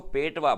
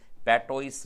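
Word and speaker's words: patois: पेटवा, इसको पेटवा बोलते हैं, पेटोइस नहीं बोलते। इसका जो प्रोनाउंसिएशन है वो पेटवा होता है।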